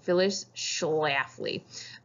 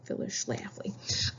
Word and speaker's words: Phyllis Schlafly: And the main person who's going to be against the ERA is this lady, Phyllis Schlafly. That's how you say her name. Right down there. You can say it, Phyllis Schlafly.